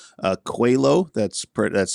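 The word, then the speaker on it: Coelho: there's a winery over that direction called uh cuello that's PR that's spelled c-o-e-l-h-o it's Portuguese for it's Portuguese for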